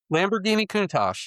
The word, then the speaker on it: Lamborghini Countach: but Yeah, what is that the the Lambor- Lamborghini Countach? I cannot pronounce it. Maybe you can pronounce the the quarter quarter survival. We'll figure it out. Lamborghini Countach, you said it right.